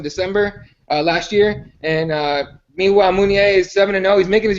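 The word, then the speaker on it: Meunier: I think it's Munier is how you pronounce it, I'm pretty sure.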